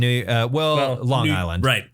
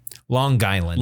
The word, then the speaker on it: Long Island: And by the way, you're supposed to pronounce the G. Long Island. Long Island. Long Island.